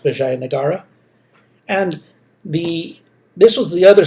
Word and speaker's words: Vijayanagara: And I know in your book it spells it without the A, but it's pronounced Vijayanagara.